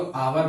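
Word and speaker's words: hour: आवर, आवर देखिएगा इसको हावर नहीं, इसको आवर पढ़ते हैं और आवर इसको पढ़ेंगे,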